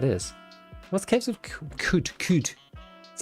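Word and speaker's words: Qud: know what that is what's caves of could could is how you pronounce it Rog like Epic in retro futurism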